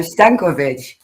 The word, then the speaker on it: Stankovic: And I am very cautious by pronouncing your last name. Let me try it. Uh Stankovic.